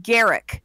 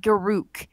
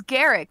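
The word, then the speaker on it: Garruk: putting this out there it's called it's it's pronounced Garak not guru it's Garrett thank you just your pronunciation if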